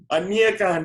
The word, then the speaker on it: Aniekan: Aniekan. Aniekan, there you go. Go right You there. say it right. Every time people pronounce my name right, it surprises me.